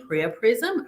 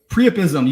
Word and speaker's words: priapism: Is it A, priapism? I did not pronounce that correctly, priapism. Go ahead and say it for me, Shane. Priapism.